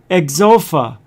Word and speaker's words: Xofa: Oh, it's pronounced Exofa. Ah. Ain't that so? Right here. X-O-Fa.